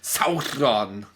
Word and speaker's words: Sauron: No, it's Sauron. Sauron. You must pronounce it like Galadriel from the Rings of Power.